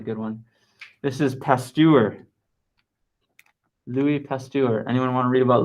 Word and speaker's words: Pasteur: Louis Pasteur.